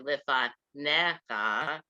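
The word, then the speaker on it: לְפָנֶיךָ: that goes down, and you can see it under lifanecha, under the ne, under the nun, there's a line that goes down next to the three dots. That means the emphasis is on that syllable, not on the last one.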